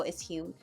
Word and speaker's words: Hume: I got the I'm not sure if it's pronounced Hume humming. Yeah, it has to be Hume. Um, Hume or Hum. No, it's Hume.